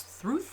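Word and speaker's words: Thrud: has a daughter whose name is through although it's spelt thread so don't ask me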